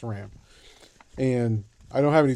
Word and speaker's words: SRAM: lot of bicycles and they're all SRAM SRAM but that's how you say it's Ram and I don't have